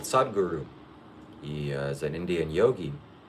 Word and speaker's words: Sadhguru: The picture behind me is a man called Sadhguru.